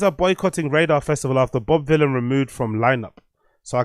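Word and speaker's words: Bob Vylan: people making it very clear that it's not Bob Violin, it's Bob Villain. Villain rhymes with Dylan, right?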